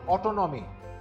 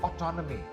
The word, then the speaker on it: autonomy: This word is not autonomy. The second syllable is stressed in this one too. This word is autonomy.